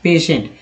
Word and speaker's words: patient: बात करते हैं तो इस तरह से इसका उच्चारण होता है, पेशेंट।